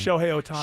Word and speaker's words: Shohei Ohtani: Shohei Ohtani.